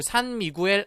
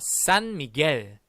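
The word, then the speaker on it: San Miguel: 그 수를 산미구엘 아닙니다 자 보시면 의미 gue 있어요 이거 어떻게 발음해야 될까요 그렇습니다 미겔 이라고 바르면 됩니다 다같이 따라 보자 싼 미 게 다시한번 싼 미 계 자 앞으로는 우리 산미구엘 말고 싼 믿게 이라고 발음하도록 하겠습니다 명심해 주세요 자 맥주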